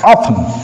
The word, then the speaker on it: often: here we find often often T is not pronounced often often he often visits our house on holidays Yes, you see here he often often visits our house on holidays.